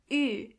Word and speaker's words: Ü: This letter is pronounced Ü. To get the sound, start with a normal U and then make your lips even closer to each other. Ü.